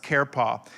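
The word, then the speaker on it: חרפה: 73 times is the word kerpa c-h-e-r-p-a-h is pronounced karepa it's a noun that means reproach or taunt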